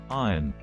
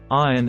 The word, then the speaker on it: iron: say Wednesday Wednesday Wednesday two mispronouncing iron as I run instead of I run fix emphasize thy sound so it sounds like I run iron iron everywhere three saying receip